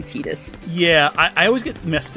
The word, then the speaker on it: Tidus: Alright, and make sure I fight Titus. Or Tidus, how you say his name. I like Titus more, but it is apparently Tidus.